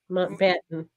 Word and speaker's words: Mountbatten: That's how you pronounce it. Mountbatten.